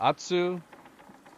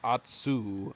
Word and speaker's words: Atsu: the name of uh Atsu. Uh Atsu. I I want to pronounce her name correctly. My American way of pronouncing her name would be Atsu. Atsu, but I think she it's atsu.